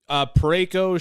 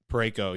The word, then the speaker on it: Parayko: Parayko, Shen, Binnington.